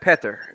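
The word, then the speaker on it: Petr: even saying it's not it's not peter it's like petter it's like peter or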